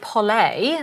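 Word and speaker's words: Pole: so over in the world of polay uh that's how you pronounce it but you may know it as Paul p o l e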